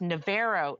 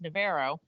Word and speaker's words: Navarro: It's a junior college it's pronounced Navarro, Texas. I always thought it was Navarro. It's Navarro. Huh.